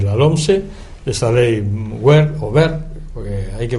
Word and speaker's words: Wert: Estamos hablando de la LOMSE, de esa ley WER, porque hay que pronunciar bien el apellido del amigo del ministro del gobierno español, ministro de Educación.